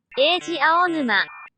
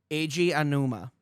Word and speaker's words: Eiji Aonuma: Eiji Aonuma. Eiji Aonuma.